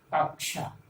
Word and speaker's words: कक्षा: छा बोलते हैं, लेकिन इसमें दो वर्ण मिले हुए हैं, क और प्लस स। अंग्रेजी में हम बच्चों को बताते हैं KSH, क और श, तो इसका उच्चारण में झलकना चाहिए, कक्षा कक्षा।